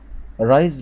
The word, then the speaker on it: rise: رايز بقى بالاس، والاس ما بين حرفين متحركين بتتنطق زد، فيبقى اسمها رايز يعني تشرق، فلما اقول the sun rises يعني الشمس بتشرق، يبقى رايز يعني تشرق.